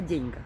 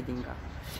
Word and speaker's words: деньгах: О деньгах, а не о деньгах. Чтоб я ударение правильно ставила.